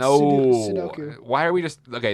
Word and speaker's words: Sudoku: I'm going to spell it. How do you pronounce it? Soduku. Sudoku. Yeah. Look at that. Sudoku. No, it's Sudoku.